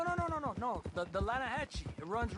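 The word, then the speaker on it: Lannahechee: no no the the lah hatche it runs right near here yeah but it's pronounced lass why is everything in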